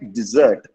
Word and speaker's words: dessert: Okay, it's not desert. Okay, how you say? But it's again a French word. If you want to say dessert, that's okay.